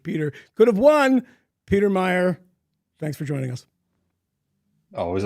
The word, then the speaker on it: Meijer: but they pronounce it Meyer. The hell kind of a spelling is that? Meer. Meer. It's Meer, but it's actually pronounced Meyer.